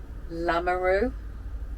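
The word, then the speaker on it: Lamoureux: it's french i'm jacking across the center andre lamarou l-a-m-o-u-r-e-u-x uh gail swanwick sharon stevens gary millward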